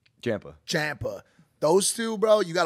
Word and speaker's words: Ciampa: The Mike's wife and how do you say his name, man? Ciampa.